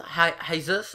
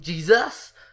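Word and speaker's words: Jesús: I know it's pronounced Jesus, but I just like to call him Jesus.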